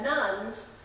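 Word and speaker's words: nones: The Pew Research Foundation suggests that in the U.S., more people now identify as nuns than they do as Christians. Nuns are those who claim no religious affiliation. It's spelled N-O-N-E-S, not N-U-N-S.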